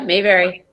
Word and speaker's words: Mayberry: Our guest speaker today is, I hope I don't say your name wrong, Mayberry? Yeah, Mayberry.